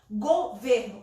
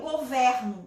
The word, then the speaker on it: governo: No caso de governo e governo, olha só, gente, não tem diferença nenhuma na grafia, somente na pronúncia. Governo, o governo, substantivo. E eu governo, então tem relação com o verbo governar, ok?